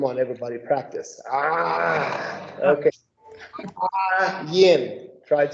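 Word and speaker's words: ע: That is the letter Ayin that looks like this. Okay, the way you pronounce that is in the back of the throat. So it's almost like a growl.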